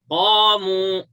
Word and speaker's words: قاموا: Yeah, qaf is heavy. Qaf is a heavy letter, and to pronounce a heavy letter, just you fill the inside area, and the back part of your tongue touches upper part, and it goes up.